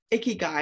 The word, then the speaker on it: ikigai: i like that what is it called again icky guy and it's spelled i-k-i-g-a-i and it's very important for leaders